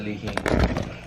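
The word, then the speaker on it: li hing: Well, it's spelled L-I-H-I-N? Lihing? G. Oh, lihing. The NG.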